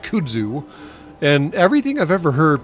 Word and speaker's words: kudzu: story called the Babaverse about how Kudzu, although he pronounces it Kudu, the uh the person that I was listening to read the book, that is the audio book, the audiobook uh reader pronounces it kudzu, and everything I've ever heard pronounces it kudzu.